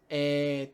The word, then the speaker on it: e: whatever German is, um, e tu, I believe. Io sono tedesco. E tu? Okay, so io sono, whatever you want to do. Tedesco is German, e tu. So the letter E is pronounced A, and in this form